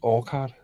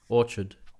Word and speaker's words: Orchard: I can't find out I always called it all card oh one second sorry just spell it for us oh uh o r c h r d Orchard okay yeah yeah actually this is a publisher